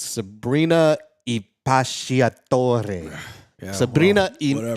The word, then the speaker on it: Impacciatore: It's really hard to pronounce. It's Sabrina Impacciatore. Yeah, Sabrina whatever. Impacciatore.